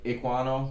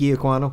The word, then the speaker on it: Ekwonu: can never pronounce this last name right. Iquano. Yeah, Ike Ekwonu.